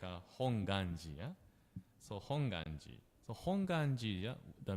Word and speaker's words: Hongwanji: the GU like a w sound actually correct pronunciation is hongi without W yeah we may wondering that why